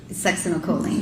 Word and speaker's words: succinylcholine: And so, if the, butcher the pronunciation, you pronounce it. Succinylcholine.